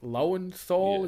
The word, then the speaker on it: Lowenthal: and Peter Parker very believable Yuri I think lowenthal is how you pronounce his surname uh he was great in